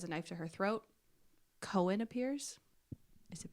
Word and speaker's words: Koen: Right when he has a knife to her throat, Cohen appears. Is it pronounced Cohen?